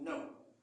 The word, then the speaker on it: know: Mais le nom que nous voyons s'écrit avec K-N-O-W. K-N-O-W. Mais on ne prononce pas I don't know. Donc, le K est silencieux.